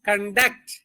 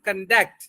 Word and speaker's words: conduct: అలాగే అది వెర్బ్ చదివేటప్పుడు స్ట్రెస్ ఎక్కడ ఉంటదంటే సెకండ్ సిలబుల్ మీద ఉంటది. We want to conduct Vidyashakti classes every day. We want to conduct.